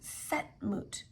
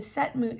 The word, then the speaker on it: Senmut: So that is Count Setmut, and Setmut is spelled Senmut.